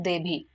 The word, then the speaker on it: देवी: आपको पता है कि हमारे उड़ीसा साइड में जो वी है ना उसको ब की तरह प्रोनाउंस किया जाता है इसलिए इसका नाम है देवी सो यह आपको क्लियर